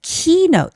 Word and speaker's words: keynote: Introduce tonight's keynote speaker. Keynote, there's the stress on the first syllable.